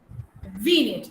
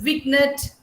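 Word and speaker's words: vignette: Yeah, G is silent. How do you pronounce it, Aparna? Winged. VNet. Very good. VNet. Yeah. Some say it is Vignet.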